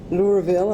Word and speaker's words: Louisville: Well, this is an incredible honour to be granted this award, and I thank the organisers and the University of Louisville, I'm told it's pronounced, very much for this amazing honour.